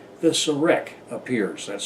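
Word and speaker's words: serekh: important symbol of ancient Egyptian iconography called the Serac appears. That's spelled S-E-R-E-K-H.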